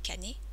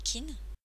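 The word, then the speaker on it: 金: La prononciation kun est kané ou okané. Et à ce moment-là, le kanji signifie argent ou monnaie. La prononciation on est kin.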